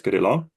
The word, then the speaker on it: Kirill: My Ukrainian name is Kirill.